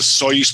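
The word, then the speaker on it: Osoyoos: a place called a soyuz bc so that's spelled o s o y o o s and it's a soyuz pc it's right on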